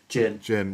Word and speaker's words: Djinn: Well, at the end of the trailer, we see, is it pronounced Djinn or Jin? Jin.